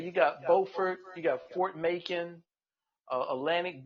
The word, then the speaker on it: Beaufort: And it's So, spelled the same way as Beaufort, South Carolina. But if you're listening, don't go to North Carolina and say Beaufort because you will get beat up.